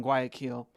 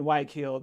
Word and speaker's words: Guayaquil: I mean, on the coast of Ecuador and in Guayaquil. Sorry, I'm saying it wrong. And Guayaquil, that they're just drug